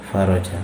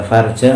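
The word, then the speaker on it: فَرَج: Fayuwattinu nafsahu, maka hendaknya dia gembleng, dia siapkan jiwanya itu, wa yasbiru, dan dia sabar, wa yantadhiru al-faraja, bacanya apa? Faraja. Kalau dibaca farja maknanya kemaluan.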